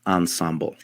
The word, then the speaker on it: ensemble: try to form an answer around the word Ensemble that is you know uh the frch French pronunciation ensembl means in English together the team